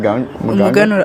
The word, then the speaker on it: Umuganura: So tomorrow is how do you pronounce it? Umuganura.